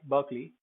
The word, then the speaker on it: Berkeley: So Berkeley, EY, Berkeley. We also have I, EYEI. So it's pronounced like that in EYE, but when at the end it's pronounced most of the time, I guess, many times it's pronounced like E.